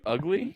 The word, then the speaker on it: Ugli: Is it pronounced ugly? I don't know. Ugly. UGLI for the audio listeners.